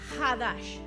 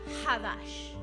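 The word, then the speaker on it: חדש: Cuando usted se va al original hebreo y estudia lo que allí dice, se utiliza una palabra que se pronuncia Hadash. Se escribe Shadash, pero se pronuncia Hadash.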